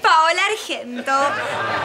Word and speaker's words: Paola Argento: Mi nombre es Paola Argento. Se pronuncia Pa-O-La Argento, como suena.